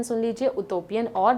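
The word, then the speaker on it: utopian: इसका प्रोनाउंसिएशन सुन लीजिए, उटोपियन और डाइटोपियन।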